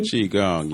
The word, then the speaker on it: Qigong: And he has in his incredible book, Ancient Future, and is a Qigong, if I'm pronouncing it correctly. Qigong, yes.